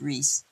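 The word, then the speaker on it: Ruiz: I'm sorry if you don't speak Spanish. Ruice. In Spanish, it's pronounced Reese.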